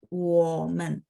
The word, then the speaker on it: 我: 生词，生词，我们，我 nya 3 ya. Jadi teman-teman baca agak turun. Masih ingat nada 3 ya, jadi dia turun, habis itu nyambung ke sampingnya. Nah, sampingnya karena nada 5